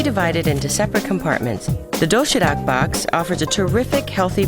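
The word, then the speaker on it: 도시락: The doshirak box offers a terrific, healthy variety of neatly packed food. It's called doshirak.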